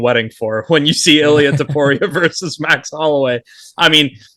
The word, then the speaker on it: Ilia Topuria: Ilia Topuria.